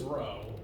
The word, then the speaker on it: rho: I've said that before it's the Greek letter row spelled like this if that helps it's like uh rhododendron and I I historically